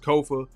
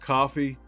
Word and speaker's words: Kofa: I'm your host, Kofa, K-O-F-A, not coffee, not kufu, not kofi, Kofa, or any variation thereof. It's 4 letters, easy to pronounce, K-O-F-A.